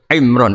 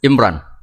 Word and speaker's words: Imran: Dari sana Bugis Imran, jadi orang sana nggak pakai ro. Kalau orang ro jadi pakai ra. Kalau ainnya? Ain pakai ain. Berarti apa? Imron gitu. Ya kalau sana tulisan KTP Imran. Apa bacanya orang-orang Sulawesi? Apa? Imran. Bismillahirrahmanirrahim.